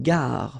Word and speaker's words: gare: Une gare. Final E not pronounced.